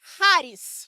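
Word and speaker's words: χάρις: Os os especialistas em grego, me perdoem, mas a palavra original é haris. Fala assim, Haris. Se escreve. Eu quase ensinei vocês charis, mas depois eu fui ver Haris.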